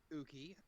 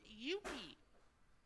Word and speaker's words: Yuki: We're doing pretty good today, Uki. I just woke up 5 minutes ago. It's Yuki, not Uki. What? It's pronounced Yuki.